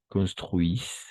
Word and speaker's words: construisent: Construisent, parce que ENT à la fin, on ne prononce jamais.